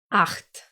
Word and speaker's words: acht: Remember our friend, the letter H in German? How it's always silent when it's alone, except at the beginning of the word, but if it pairs with his friend, the letter C, it will make a sound, exactly like here, acht.